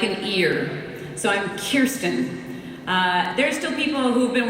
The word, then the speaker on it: Kirsten: I like to stand right there and go, or Kirsten. Anyway, Kristen.